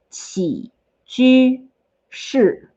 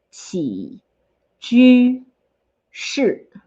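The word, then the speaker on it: 起居室: So then the other word for living room is 起居室. Told you it's a little bit hard to pronounce. Let's do it again. 起居室.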